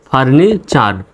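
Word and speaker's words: furniture: NI TURE চার, শব্দের শেষে TURE আছে, তাহলে উচ্চারণটা হবে এরকম FUR ফার NI ফারনি TURE চার, FUR ফার NI ফারনি TURE চার, ফারনি চার, চার।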